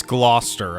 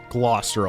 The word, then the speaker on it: Gloucester: name Lawrence Hellman Gloucester its Gloucester okay I keep trying to hear every time they pronounced it but somehow it just kind of misses my ear Gloucester I'll try to remember